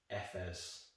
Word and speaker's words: Efes: pretty much everything about the world and it's pronounced fs you know just just imagine the letter f